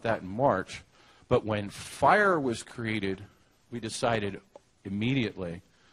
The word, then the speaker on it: FHIR: is the definition from the fire specification uh spelled fhir pronounced fire um and if you